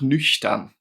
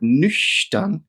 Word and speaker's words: nüchtern: And in the word nüchtern, it makes a sh sound.